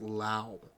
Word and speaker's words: Lowe: One's pronounced Lau. Brandon Lau and Josh Lowe.